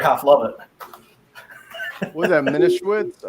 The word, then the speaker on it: Manischewitz: Menishewitz? How do you pronounce that, Neil? Manischewitz.